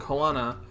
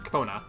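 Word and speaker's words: Koana: is focused on what he zor ja and kanana or sorry Kona I keep saying kanana because of Moana right yeah but it's pronounced Kona the they are going about this as I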